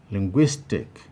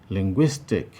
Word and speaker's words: linguistic: highlighted 19 linguistic linguistic here also we have three syllables ling guise tech option b has guise highlighted indicating that that is the place that receives greater prominence and as such it is a place that we have the primary stress 20 antagonistic antagonistic here